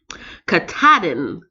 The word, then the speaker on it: Katahdin: Katahdin, Mount Katahdin, in the Appalachian Mountains.